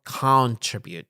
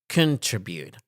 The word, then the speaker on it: contribute: لاحظ أن أنا contribute stress يكون على الجزء الثاني، هذا stress، فلا تلفظ contribute. No, contribute.